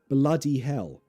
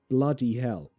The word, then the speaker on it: bloody hell: I am from London. So I say bloody hell. Bloody hell. She is northern. So she says bloody hell. Also notice the H is dropped.